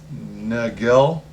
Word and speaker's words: Nagel: I I always keep I always call them Nagel but that might not be the right pronunciation um but it was n-a-g-e-l and it